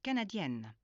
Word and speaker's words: canadienne: If you're a woman, the pronunciation of the ending of the word is emphasized. If you're a woman, you should be saying je suis canadienne, or je suis anglaise,